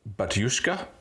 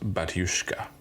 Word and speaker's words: Batushka: H their name the band name is called batushka b a t u s h Ka a but it's pronounced batushka batushka uh this album came out in 2015